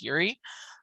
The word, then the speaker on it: Yuri: yuri perez i pres forgive me if i mispronounce that but i'm pretty sure that's how you say it as yuri um this dude is